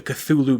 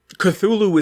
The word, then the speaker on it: Cthulhu: And that, Cthulhu is not how his name is really pronounced. It's the only way mortals can pronounce the name Cthulhu, which I think is super interesting.